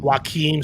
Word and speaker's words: Joakim: They got Jose Barrios from Minnesota, and they got is it Joakim Soria? I think it's Joaquim. Joaquim Soria, thank you. He's been around forever, and I never know learned the pronunciation.